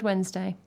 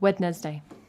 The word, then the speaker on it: Wednesday: my head I'm like, Wednesday. So I just read that, like, of course you pronounce the D in Wednesday. What's the wed doing? Not actually how you say that word.